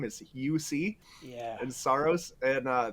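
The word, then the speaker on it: Juuse: like j-u-u-s-e is the the first name is uc yeah and soros and uh the first time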